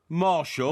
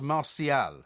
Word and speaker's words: Martial: Marshall. No, it's pronounced Martial.